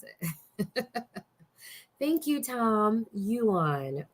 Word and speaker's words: yuan: it thank you tom yuan not the yen the yuan the chinese dollar um